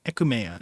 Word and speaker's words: Aechmea: Because it might like say Ekumea. Ekumea is how you're supposed to pronounce it in the Japanese thing, apparently.